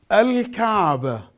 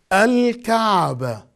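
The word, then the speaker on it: الكعبة: Alif, Lam, Sukoon, Al, Kaf, Fatha, Al-Ka, Ain, Sukoon, Al-Ka, Be, Fatha, Al-Ka'ba, and the ta marbuta in the end, non-pronounced I write it down. Al-Kaaba. I read it. Al-Kaaba.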